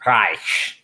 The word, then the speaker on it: Reich: The Germans pronounce it Reich.